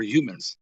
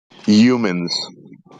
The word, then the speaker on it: humans: a mental breakdown over humans so just go ahead projection just learn to pronounce the h all right cool man yeah humans there you go yeah